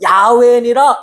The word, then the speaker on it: 야훼: 그리고 출애굽기 3장 14절에는 나는 너희를 구원할 여호와, 정확한 발음으로는 야훼니라 이렇게 말씀하셨어요.